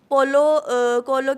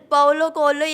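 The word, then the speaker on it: Paulo Coelho: उनका नाम ऐसे ही बहुत लोग गलत भी प्रोनाउंस करते बोते आप बताए एट प्रोनंसिएशन बताइए मुझे भी पता नहीं है सर पाओलो कोलो एग्जैक्ट तो मैंने मेरे फ्रेंड्स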